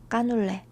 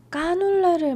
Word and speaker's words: canelé: 어 한국 사람들은 까눌레라고 발음해요 Ah, les Coréens le prononcent « kkanoulle ». 까눌레 전 정말 좋아하는데 J'adore